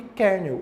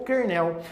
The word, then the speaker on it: Kernel: núcleo do sistema operacional é chamado de Kernel ou Kernel tanto faz a pronúncia você memoriza do jeito que você achar mais fácil simplesmente tem que saber